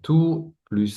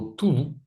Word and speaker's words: tout: So basically we activate the T if if the word if two is followed with a A a E i Ou a E i o becomes tout à l'heure you heard t d'accord donc ici on